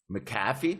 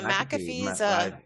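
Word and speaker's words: McAfee: project that we worked on there with them maffy too you got that mcafe yeah mcafe I said it wrong yeah no no worries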